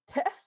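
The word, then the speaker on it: teff: And I really appreciate your storytelling on, I don't know if I'm going to pronounce this right. TEF? How do you say it? TEF.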